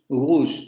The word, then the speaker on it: rouge: rouge, Pero si escuchamos detenidamente, lo que ocurre es que podríamos llevar esa G que nosotros pronunciaríamos al principio un poco más atrás, ¿no? O sea, forzarla a que se vaya más atrás. En lugar de decir rouge, decimos rouge, rouge, rouge, rouge, rouge, rouge.